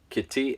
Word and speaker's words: Kittim: So Kittim is 3794, Kitti, okay? It says Kitti, how to pronounce it, just Kitti.